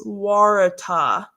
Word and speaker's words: Waratah: And this is Waratah. And Elisa says, yes, it's pronounced correctly.